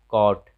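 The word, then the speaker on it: caught: तो जब भी यू जी एच रहे तो यू साइलेंट हो जाता है, यू जी एच टी रहे तो यहाँ भी यू साइलेंट हो जाता है।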